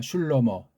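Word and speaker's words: שלמה: 생각을 잘해야만 하겠습니다 어쨌거나 원문 공부한 사람들은 슐로 뭐라고 읽습니다 슐로모 예 슐로모 마들 로모가 대단한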